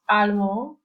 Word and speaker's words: allemand: You do not pronounce the last D in the masculine form, whereas in feminine, you say allemande. So this final D is now pronounced.